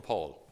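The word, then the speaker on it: pall: he's conservative or not this is called the paul p-a-l-l i don't know why it's called pronounced paul it's called paul right if you use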